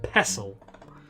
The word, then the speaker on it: pestle: you'd pronounce it correctly mortar and pestle you don't say the tea that's nuts garlic my